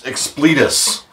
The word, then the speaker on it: Expletus: we go and donald has told me it's explitus that's from the expert let us expect lettuce